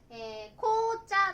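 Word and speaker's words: 紅茶: ティーとかねは、紅茶って読みます。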